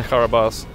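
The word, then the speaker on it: Carabosse: Is it the Karabas, or how do you pronounce that? Yes, that's okay. Karabas.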